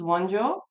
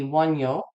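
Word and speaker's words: Wunjo: So this is Wonjo. And I might be saying, I'm probably saying that wrong because they actually pronounce their J's like Y's there. So that would be Wonyo and joy.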